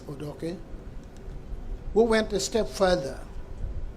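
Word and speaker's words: Odoki: justice Benjamin J odok here they wrongly pronounce it odoi it is odok I say so because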